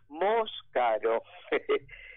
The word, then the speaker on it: Moscaro: Bueno, y les digo, mi apellido es Moscaro, a pesar de que puede confundirse con otro similar por el tipo, por cómo está escrito, digamos.